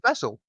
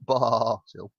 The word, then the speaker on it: basil: There's it's a short A. There's no Yeah, Y. yeah, basil, not basil. No, a short A is A. That's a long A that you just did.